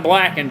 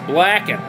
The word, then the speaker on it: Blackin': No G on Blackin', just Blackin'. Blackin'. There ain't no G. I ain't pronouncing it, so you Yeah. shouldn't be typing it.